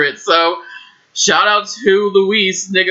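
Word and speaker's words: Luis: name was I said I pronounced it Louis it was probably Louise it was l u i s and this that this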